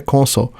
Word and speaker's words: console: então dtnet New console a pronúncia do de console em inglês é console Ah então dnet New